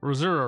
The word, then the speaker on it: Missouri: River the Missouri River mura river like that yeah I know that's how they say it Moura River uh so we are